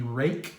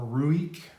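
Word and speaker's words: Ruike: Next up, we have the Rake, or Ruik, depending on how you pronounce it, P8101.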